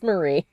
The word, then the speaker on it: Marie: fade away well now I have finally heard her name again and know that I've been saying it wrong this whole time so well it's Marie I'm going to forget immediately and call her Mary again or Mari Marie